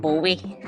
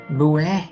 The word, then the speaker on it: Bowie: I blinked and now it's David Bowie. Bowie? It's pronounced Bowie.